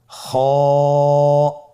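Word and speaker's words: خ: খ হরফটির মাখরাজ হল কন্ঠনালীর শেষ ভাগ হতে উচ্চারণ করতে হয়। কন্ঠনালীর শেষ ভাগ। আপনারা আমার সাথে বলুন খ আবার বলুন।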